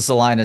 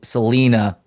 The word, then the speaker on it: Salina: Well, I'm glad you pronounce it correctly because there's a Salina Texas too, but of course everybody wants to go Selena with that uh that